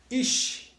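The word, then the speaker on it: איש: lá temos aqui a palavra homem como se pronuncia a palavra homem né Braga iche iche significa homem e essa aqui são as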